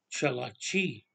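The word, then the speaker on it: Tsalagi: And Cherokee, it's not the name. The original name is Chalachi. That's how you pronounce it.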